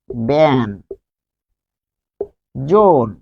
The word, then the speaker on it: ব্যঞ্জন: ব্যঞ্জন উচ্চারণ কি? ব্যান জোন, ব্যঞ্জন।